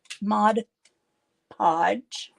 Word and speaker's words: Mod Podge: I am going to Modge Podge mod Podge is that how you say it modified yep that's right napkins but I'm not